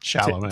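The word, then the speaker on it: Chalamet: Shalom. Timothy Shalomé.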